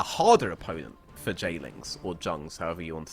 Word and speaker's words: Jlingz: have been a harder opponent for jings or Jungs however you want to say it right just change it's jings it's not it's it's just it's a you